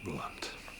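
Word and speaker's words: Blount: Alison, B-L-O-U-N-T. Same pronunciation, different spelling. Alison Blunt.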